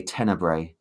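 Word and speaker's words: Tenebrae: a sensible price um forgive me if I pronounce this wrong I say tenor that's that's how I say it okay that's good the Rio argento's tenra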